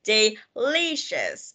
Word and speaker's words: delicious: Nên các bạn sẽ phải đọc là delicious. Ok, đọc chữ ly cao hơn là hai chữ còn lại ha.